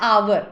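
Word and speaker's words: hour: जैसे हम कहते ना एन आवर एच ओ यू आर why because H यहां पर साइलेंट है सुनने में आ रहा है आवर ओ यू आर एच का प्रोनंसिएशन आवर जैसा आ आ आ सी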